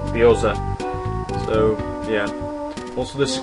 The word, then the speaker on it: gyoza: Whereas in Japanese she loves lines, which is Nurrrccceee, and hot stickers, which is sort of like a dumpling, and that's pronounced gyoza.